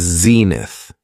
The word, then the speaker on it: zenith: The next noun is zenith. It has two syllables and the stress is on the first syllable. Zenith.